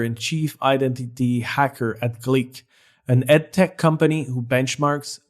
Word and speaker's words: GLEAC: GLEAC, it's geek with an L.